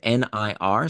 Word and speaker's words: Nir: find my work is near and far it's spelled like my first name nir so that's n r